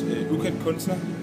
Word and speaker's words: Ukendt Kunstner: It's Ukendt Kunstner. But yeah, I think there is a constellation in the second word with what is it, NSTN, like in a row.